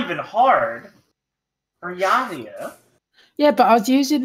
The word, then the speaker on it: Buryatia: I cannot pronounce that. Is what? Burayatayan.